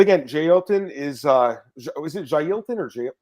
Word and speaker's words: Jailton: But again, Jay Elton is it Jailton or Jay?